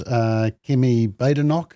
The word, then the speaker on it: Kemi Badenoch: And you'll be interested, Simon, that the new leader of the Conservative Party in the UK is Kemi Badenoch, I think is how you say it.